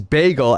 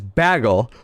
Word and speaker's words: bagel: the bagel one because hedge pronounces Bagel as bagle because she's a freak and she you could say whatever you want about milk but baggle is just bagle is insane milk's at least close baggle I don't know what's going on with that and she's definitely not watching the VOD right now Hedgehog but it is pronounced Bagel you're right mice man